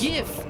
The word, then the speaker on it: GIF: As has Shod, it's GIF. Like like if you add a T to the end of it, it says gift. I agree. Just saying it's it's a hard G because it stands for graphical.